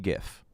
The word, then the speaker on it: GIF: Like the guy that created the GIF says it's pronounced GIF.